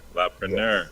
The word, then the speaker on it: La'Preneur: Is that how it's pronounced? La Preneur. Yes. Like entrepreneur.